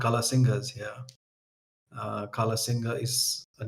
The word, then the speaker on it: Kala Singh: And so when they asked him, and he said, "My name is Kala Singh," and they couldn't quite pronounce his name, so they called him Kala Singha.